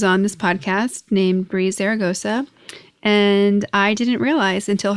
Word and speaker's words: Zaragoza: I spelled it with a Z and an S. So Zara, Zaragosa, and it's double Z's.